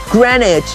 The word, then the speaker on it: Greenwich: of let's see it says welcome to Greenwich pronounced Greenwich it is 24 hours